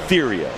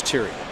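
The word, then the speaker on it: Theriot: that happen with Theo is it tyo or Theo it's tyo I like to call him the riot that's how you spell it I know Terio F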